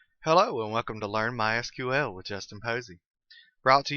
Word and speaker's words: MySQL: I've been calling it MySQL that is the correct pronunciation however it is also commonly called my sequel if you hear it